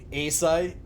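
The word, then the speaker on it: açaí: Acai, Akai, I don't know.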